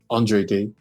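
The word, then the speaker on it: Andra Day: Is that how you pronounce it? Andre Day.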